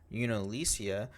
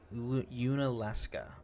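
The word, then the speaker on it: Yunalesca: To grant Spira a reprieve and a hope for salvation, Yu-Yavan's daughter, Unalesia, devised a plan to destroy Sin. Can't let that one go. Okay, how do you say it? Unaleska.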